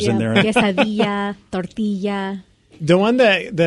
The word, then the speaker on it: quesadilla: joke to everyone because I know how to say it properly, but everyone looks at me funny. You know how to say it legitimately, yeah. too. Like tortilla, you know, quesadilla.